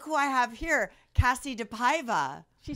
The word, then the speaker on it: DePaiva: welcome back look who I have here Cassie deiva she said my name right I'm so happy oh what do people say it wrong oh my gosh deava deavia DEA deara they're morons yeah just look at it you